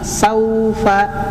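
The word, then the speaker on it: سوف: Saufa saunya kalau bisa diucapkan dalam satu kata, satu suku kata. Saufa ya. Saufa. Jadi sau bukan saufa ya. Kalau saufa itu seolah-olah ada huruf ee wawu yang hidup atau huruf hamzah yang hidup.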